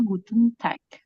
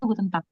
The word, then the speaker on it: Guten Tag: Vivit nanya, ini bacanya Guten Tag. Salah, bacanya itu Guten Tag.